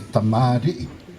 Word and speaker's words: Tamarii: You know, if you want to say my name, say it properly. It's Tamarii.